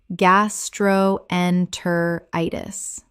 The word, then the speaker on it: gastroenteritis: pla-ce-bo placebo Word 67 gastroenteritis common mispronunciation gas-tro-en-ter-i-tis correct pronunciation gas-tro-en-ter-i-tis Six syllables with the stress falling on the fifth.